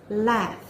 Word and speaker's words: laugh: Ya, laugh. Bukan late atau latte ya, nanti kopi jadinya.